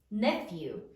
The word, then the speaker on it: nephew: Sound it out. N, e, f, you. Nephew.